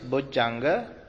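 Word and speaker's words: bojjhaṅga: simple would Changa they will be difficult to pronounce both junga this term would junga the pali term is both janga which is a combination of two terms etymologically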